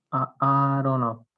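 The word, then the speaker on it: Aharonov: Es Aronoff.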